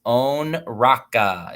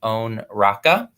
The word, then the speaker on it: Onraka: Onraka is how you pronounce it, Onraka.